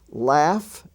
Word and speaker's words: laugh: we find out that the f sound can also be spelled gh as in such words as rough r-o-u-g-h or cough c-o-u-g-h laugh l-a-u-g-h laughter with the g-h spelling